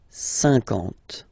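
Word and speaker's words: cinquante: Remember that you get this QU, but then you don't pronounce the U. And then you get the nasal, un, and then en. 50, 50.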